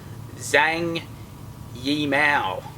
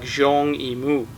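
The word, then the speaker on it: Zhang Yimou: let's have a look at the film's director Zang yal there's another one of those words or names in this case you didn't learn how to pronounce properly it's pronounced more like Jeong IMU and being a Chinese name Jeong is his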